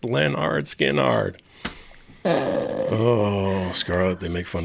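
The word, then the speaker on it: Lynyrd Skynyrd: Leonard Skinner. Skinnard. It's pronounced Leonard Skinnard.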